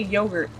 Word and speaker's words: yogurt: me how to say yogurt oh my God it's okay it's a short o and apparently they abandon the r and then he's talking